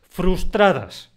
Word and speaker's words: frustradas: Frustradas. Esa palabra es difícil de pronunciar. Ten cuidado con la disimilación.